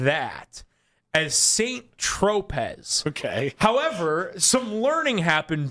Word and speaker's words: Saint-Tropez: Okay, it's Saint-Tropez. Is how you say it.